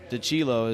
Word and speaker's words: Dilo: by Joe zazar Frank Dilo Dilo is the correct pronouncation of that Marco Orlando Jr and